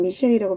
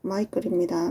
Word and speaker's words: Michael: 마이클은 미셸이라고 발음하지 않도록 주의하세요. 마이클입니다.